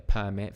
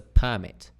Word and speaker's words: permit: you can get a permit for smoking uh marijuana for legally that's a permit or you can have a driving permit permit permit Dum D permit Dum D and um are you